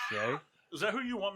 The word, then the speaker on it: Shai: it's pronounced Shay.